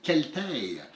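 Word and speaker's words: Celtae: Moi, je vous parle d'un jeu avec un nom qu'il a fallu rechercher sur Internet pour savoir comment le prononcer. C'est Celtaire.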